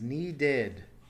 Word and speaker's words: needed: So the past tense is needed. Notice the id ending here and the addition of an extra syllable.